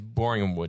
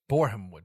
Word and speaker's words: Borehamwood: What league is Boringhamwood in? Boringhamwood? Spell it? Borehamwood.